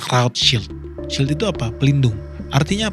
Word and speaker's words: Rothschild: Nah, banyak orang bilang Rothschild itu salah, itu English pronunciation. Karena dia dari Jerman, sebenarnya Roth itu artinya red dalam bahasa Jerman. Jadi orang bilangnya Rothschild.